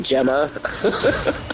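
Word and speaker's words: Jemma: So So people will start calling me Gemma. Oh, is that's how you pronounce it? Thank you. Okay. Like a gem. Like a gemstone, right?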